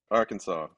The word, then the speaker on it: Arkansas: So you grew up in a place called Little Rock in, how do I pronounce it? Arkansas.